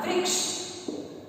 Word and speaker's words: वृक्ष: पर रह लगाना होगा, जबकि हमारे पास रह नहीं है, री ऋषि की मात्रा है और इसका री ऋषि को हम री की तरह से प्रोनाउंस करते हैं।